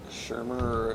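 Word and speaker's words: Shurmur: Shermer, is that how you say it? Pat Shermer.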